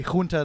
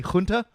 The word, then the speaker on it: junta: Can you say junta one more Junta. time? Junta. You said It's spelt with a J, so it's kind of in between a soft J and a hard J.